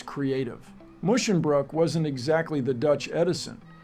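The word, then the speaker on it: Musschenbroek: the poor man's name it's mushin Brook not munch Brook say it with me musin Brook but yes the correct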